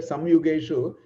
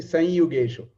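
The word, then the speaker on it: संयुगेषु: So you should say sanyugeshu. Although I said samyugeshu, is actually sanyugeshu. That yim should be pronounced as a anunasika.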